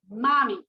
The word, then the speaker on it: Mami: song you can always search it and it is spelled m-a-m-i mommy now this song is not about your mom